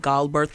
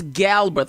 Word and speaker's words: Galberth: do you pronounce it okay so it's Galbraith all right we're going